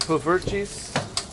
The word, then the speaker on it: poffertjes: POFFERTJES?